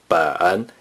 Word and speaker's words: 本: 本 is the third tone.